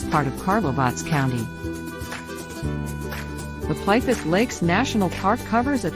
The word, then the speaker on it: Plitvice: Pipest Lakes National Park, colloquial Plitvice, pronounced Plitvice, is one of the oldest national parks in Southeast Europe and the largest national park in Croatia.